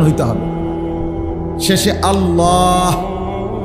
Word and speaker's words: আল্লাহ: শেষে আল্লাহ। শেষে একটা গোল হা আছে ছোট হা।